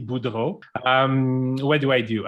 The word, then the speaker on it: Boudreau: little bit more about you and pronouncing your name correctly because i just tried and didn't do a good job sure can so my name is budo um what do i